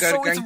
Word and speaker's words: Gargantia: How do you pronounce this? Suseno Gargantia? Don't go for that one! Suicide no It's Gargantia.